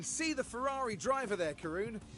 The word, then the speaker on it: Karun: I like Karen. Karun Karun Chandok. I can never say his name right.